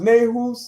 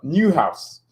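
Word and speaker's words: Neuhaus: I thought it was Nehus or Nehas. No, Newhouse.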